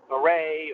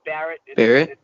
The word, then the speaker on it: Barrett: wrong but i get a lot of people that try to pronounce it like maybe it's a french word but okay so a lot of people will say barrett or beret or fist or that